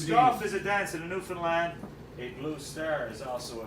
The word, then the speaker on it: Newfoundland: your visit dance in Newfoundland eight blue stairs also a beer and it is pronounced Newfoundland not Newfoundland New Zealand is the